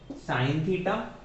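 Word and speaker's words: sin θ: होते हैं हमारे पास हमारे पास होता है सन तीता ठीक है जो मैं प्रोनाउंस कर रहा हूं वही इनको बोला जाता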